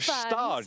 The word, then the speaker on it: Gstaad: And beautiful pronunciation of Gstaad.